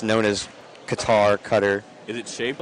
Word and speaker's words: Qatar: No, it's it's it's technically supposed to be pronounced Qatar, but it's also just also not supposed to be pronounced like that because there's two letters in the actual name that just don't exist in the English lexicon.